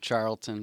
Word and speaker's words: Charlton: And I also have Adam Charlton. Yes. Yes. Yeah. Did I pronounce it right? Charlton, but yeah.